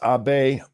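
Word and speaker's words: Abe: this Michael thank you it's pronounced AB I now that you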